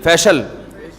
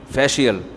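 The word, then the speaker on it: facial: बहुत मशहूर लफ्ज है फिल फिल फिल फेशल अबे सही प्रोनंसिएशन बुलवाया करो फिल ना फेशल ये अमेरिका से आए सही बताएंगे जीश फेशियल यह अमेरिका से आए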